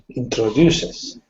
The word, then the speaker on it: introduces: you said it right so we have introduces so the stress is on the third syllable in that word okay okay you said